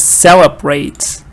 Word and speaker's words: celebrate: And it's interesting that the word itself is celebrate. The stress is on the first part.